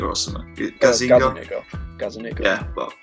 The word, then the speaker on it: Gazzaniga: Is it Gazzaniga or something? Gazzaniga.